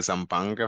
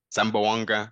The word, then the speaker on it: Zamboanga: successful wins for the zanga family Zamboanga sorry Zamboanga family I got I remember that one I remember that pronunciation lead card yeah first